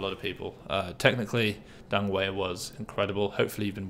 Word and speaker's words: Deng Wei: um you know way you're not watching this dung way i should say it's a correct pronunciation of dung um you're not watching this but thanks you you definitely inspired a lot of people uh technically dunway was incredible hopefully you've been watching videos of